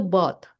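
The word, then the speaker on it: bought: Kalau ini br ini kalau beli itu bot.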